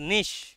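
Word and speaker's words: niche: cave itself in নিশ উচ্চারণটা নিচে নয় উচ্চারণটা নিশ নিশ মানে দেখবে ইউটিউবারদের বলা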